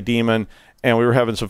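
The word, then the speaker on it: daemon: apologize for for for pranking everybody with that Damon thing last week because because it is pronounced demon and and I was sort of doing an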